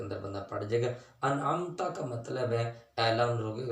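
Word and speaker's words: أنعمت: المستقیم صراط الذین انعمت، یہاں علماء نے یہ کنفرم بات لکھی ہے کہ انعمت کی جگہ کسی نے انعمتو پڑھ دیا، جان بوجھ کے پڑھ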